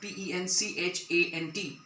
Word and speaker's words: penchant: The correct pronunciation of P-E-N-C-H-A-N-T is penchant.